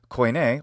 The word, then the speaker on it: Koine: Although Koine, or Kini in the modern Greek pronunciation, Koine literature also shows,